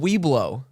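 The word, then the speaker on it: Webelos: They're called We Blow. No. No. Yeah, No, a Heath, Weeblo. no way. No, it's spelled like WEBLO. But it said like We blow scouts.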